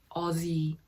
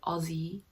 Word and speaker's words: Aussie: you pronounce this it's aussie not aussie it's with the z sound aussie i don't know if